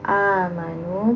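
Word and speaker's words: آمنوا: Yang pertama, amanu. Pengucapan Hamzah ya berbeda dengan pengucapan ain. Jadi ibu lebih syiddah lagi, lebih kuat lagi ngucapnya. Amanu.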